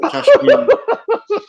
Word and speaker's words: Kashmir: Kashmir. Like, think of Amiri jeans and then put some cash on it. Put some dollars on it.